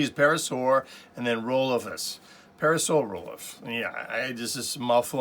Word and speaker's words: Parasaurolophus: This is one I'm still having difficulty pronouncing, Parasaurolophus. All I see is Parasaur and then Rolophus. Parasaurolophus.